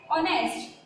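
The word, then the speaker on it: honest: तो यहाँ पर आप देखिए जो ऑनेस्ट है इसकी स्पेलिंग भले ही एस से स्टार्ट होती हो लेकिन इसका प्रोनाउंसिएशन क्या आ रहा है ऑनेस्ट, आ से स्टार्ट हो रहा है।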